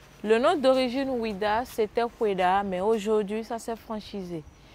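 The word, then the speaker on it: Ouidah: du mot ha disait wida nous sommes colonisés par eux on a gardé wida jusqu'à présent sinon le nom d'origine c'est peda cette foirêt elle est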